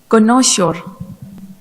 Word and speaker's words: connoisseur: And then I have two of you that said it correctly. And for my French speaker, pour vous qui parlez français, le mot c'est de la France, vient de France. Ça veut dire connaisseur. Connaisseur, c'est un mot français.